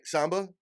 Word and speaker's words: Samba: surprised oh man so Samba and I'm pronouncing your last name correctly right Samba yes sir all right that's it so one